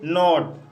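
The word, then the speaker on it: not: दोस्तों छोटे शब्दों में दो कंसोनेंट के बीच ओ का उच्चारण अ होता है। जैसे नॉट, नॉट शब्द में दो कंसोनेंट के बीच ओ आया है, इसलिए यहाँ पर ओ का उच्चारण अ हुआ है, इसलिए इसे नॉट पढ़ा जाता है।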